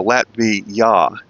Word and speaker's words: Latvija: और इसलिए वे J का उच्चारण उसी तरह करेंगे जैसे अंग्रेजी में हमारे पास Y हो सकता है। तो यह एक तरह से ऐसा है जैसे वे उस अंतिम अक्षर का उच्चारण ya के रूप में कर रहे हैं। जे ए, तो Latvija.